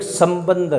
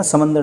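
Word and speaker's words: சம்பந்தர்: Second number हुए तिरुज्ञान, और एक संबंदर। देखना, समंदर नहीं है, संबंदर, संबंदर लिख लिख के याद कीजिएगा उनको, तो ये स्पेलिंग हमारी या प्रोनाउंसिएशन वो सही हो जाएगी बोल बोल कर।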